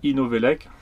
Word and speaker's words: Inovelec: Donc c'est le site Inovelec, ça s'écrit Novelec, E-Novelec.